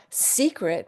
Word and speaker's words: secret: For example, here we have select which which is a schwa, seclude, awah, secret where it's a long vowel, segregate which is a short vow, and secede which again is awah.